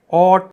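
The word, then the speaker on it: haute: इसको बोलते हैं, इसकी प्रोनाउंसिएशन होती है ऑट, जिसका मतलब होता है फैशनेबल या फिर हाई क्लास, जिसकी क्लास हाई हो, उच्च वर्ग से संबंधित जो हो वो होता है ऑट।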